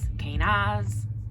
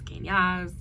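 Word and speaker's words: Kenaz: All right, so our next one is Kanaz, whichever way you were to pronounce Kanaz. I'm pretty sure it's pronounced Kane, like Kane, and then Az, Awze, Az.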